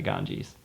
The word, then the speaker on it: Ganges: The Ganges? Yeah, the Ganges.